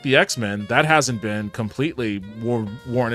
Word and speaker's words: X-Men: Smen? That's a Terrible pronunciation. At Ye Old Nerdcast said Smen. Oh, no. X-Men. Ye Old Nerdcast said X-Men. There you go. At Ye Old Nerdcast said X-Men. Not Smen.